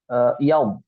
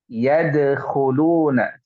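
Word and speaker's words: يدخلون: Itu yad. Tadi Akang baca yaum ya. Iya, Pakai iya. bo. Harusnya pakai dal. Yadkhuluna. Coba ulangi. Yadkhuluna. Yadkhuluna. Yadkhuluna. Nah, bukan yaub, tapi yadkhuluna. Yadkhuluna.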